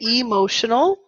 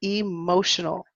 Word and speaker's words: emotional: Some people say emotional. So again, here we can stress E. She was so emotional. Or we can say it quickly. Emotional, emotional, emotional. Emotional. Emotional. Good. So both pronunciations are fine.